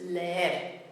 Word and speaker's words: leer: The root is le and the ending is er. But we have to keep it as those two syllables, so that gives us leer.